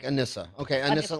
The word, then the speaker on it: Anissa: is your name pronounced anissa it is like Vanessa with an a unless it's love and kind of like a Melissa anissa Melissa like anissa okay i missin like